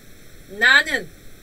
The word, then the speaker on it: 나는: Pero ahorita este yo es nanen. Más fácil para pronunciar para ustedes, ¿no? Na de naranja.